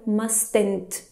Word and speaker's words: mustn't: Atenção, porque esse T do must, a gente não vai pronunciá-lo. Ele é silent, right? So, must not or mustn't. Atenção, não fala, por favor, mustn't, que muitos alunos falam.